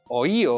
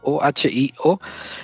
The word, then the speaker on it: Ohio: que ha pasado en oío Ohio no sé cómo se dice se escribe oído en español o h i o se dice Ohio la producción fonética qué